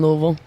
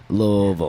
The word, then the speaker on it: Louisville: and bred raised in Louisville Kentucky okay love that I have to teach people all over the world how to say it they're always like Louisville they always a Louisville and I'm like girl